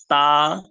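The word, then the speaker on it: ط: তা এরকম পাতলা সাউন্ড হবে না, মুখ ভরে উপরের দিকে আওয়াজ করে পড়তে হবে ত।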